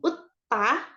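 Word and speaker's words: 웃다: yang pertama tertawa itu utta utta Jadi kalau dilihat di sini ada huruf u terus S yang kalau di bawah dia jadinya t terus samaah Uta artinya tertawa gitu ya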